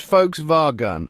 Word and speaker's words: Volkswagen: The correct pronunciation is Volkswagen. That's right, it's all about those guttural German sounds. Folks, like you're talking about a group of people, rhyming with spa and gun like the weapon.